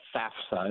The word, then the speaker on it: FAFSA: gone there, the federal, it's the FAFSA is how I pronounce it.